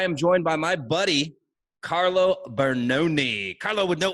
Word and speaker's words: Carlo: content i'm always like you know carlo no s fitness marketer carlo no s ad fitness marketer but yeah that's a